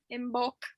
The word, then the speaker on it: Imbolc: Happy Imbolc. I don't know if that's, everybody says it a little different. Imbolc.